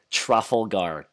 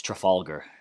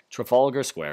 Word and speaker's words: Trafalgar: my pronunciation of yeah I said truffle guard totally butchered that one and then I go and we meet you know some of the actual like London people and asked me know how do we were in this what is this called like truffle gars and they're like no it's Trafalgar Trafalgar Square and I was just